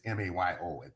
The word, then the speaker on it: Mayo: Because I'm mixing up DeMaio and Yeah, the Mayo study is M-A-Y-O. It's as though it should be pronounced Mayo.